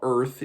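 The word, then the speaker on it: Urth: on this world called Earth now Earth is spelled Ur t h so take from that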